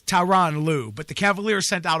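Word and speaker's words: Tyronn Lue: name the wrong way so they actually sent out a phonetic pronunciation like you get in the dictionary of tyan Lou uh clearly people were emphasizing the taii and the rone and and separating the the emphasis on the syllables and it's it's tyan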